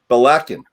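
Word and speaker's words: Ballechin: Islay, Stonicky, Belichin, or is that Belikin? Help me out. Belakin. Which goes to that second syllable thing we're going to talk about later.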